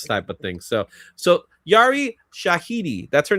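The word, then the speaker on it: Yara Shahidi: So So Yari Shahiti, that's her name. That's how we say her name. Shahiti.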